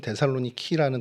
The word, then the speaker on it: 데살로니키: 그다음에 알바니아나 마게도니아 또 불가리아랑 이렇게 인접해 있는 그쪽에 데살로니키라는 이제 실제 지금 발음은 데살로니키라는 도시입니다.